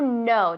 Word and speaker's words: know: Silenciosa. To know decimos. Que no, no. To know. To know. Como yes, no. To know. Es igual, ¿vale?